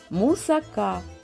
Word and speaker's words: мусака: вперше буду готувати мусаку мусака Саме так правильно вимовляти це вишукана грецька запіканка